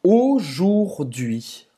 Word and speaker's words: aujourd'hui: Ela esqueceu essa letrinha aqui. Ela esqueceu de pronunciar o R. Então, como é que a gente vai pronunciar a palavra hoje em francês, Emila? Aujourd'hui. Aujourd'hui. Vou escrever aqui. Aujourd'hui. Ou seja, a U vai ter o som de O, aqui o OU vai